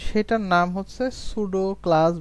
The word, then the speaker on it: pseudo: তো সেটার নাম হচ্ছে সুডো ক্লাস বা সুডো এলিমেন্ট। আপনি যদি সুডো সিএসএস লিখে সার্চ দেন, বানানটা একটু লক্ষ্য করেন, এখানে এটা হচ্ছে PSEUDO সুডো, এটার বানান আসলে একটু অন্যরকম।